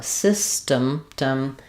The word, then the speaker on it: system: about sound system, but to pronounce system, we have first syllable stress. The letter Y says the I sound. Uh, system. We have a very reduced vowel here. So, it'll be shown probably as a schwah in the dictionary, but you can think